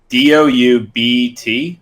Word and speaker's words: doubt: DOUBT? Doubt? How you spell it again? Yeah. Shouldn't it be pronounced like doubt? Yeah. Like the B is silent.